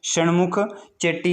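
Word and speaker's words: शण्मुखम चेट्टी: इसकी प्रोनाउंसिएशन आपने देख लेनी है। आर के शमुख चेट्टी इसका राइट आंसर होगा।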